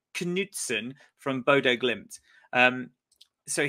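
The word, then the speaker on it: Knutsen: Bookies favorite and uh that is Knutson not Knutson Knutson from Bodo glimped um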